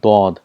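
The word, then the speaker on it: ض: For example, for Zwad, in Urdu it's called Zwad, but in Arabic it's called Dod.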